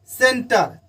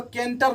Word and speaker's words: centre: CENTRE सेंटर, इसको केंटर नहीं पढ़ेंगे।